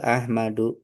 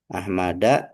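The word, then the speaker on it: أحمدُ: Tidak boleh dibaca Ahmada, tidak boleh dibaca Ahmadi, tapi yang betul adalah Ahmadu karena sebagai Ahmadu.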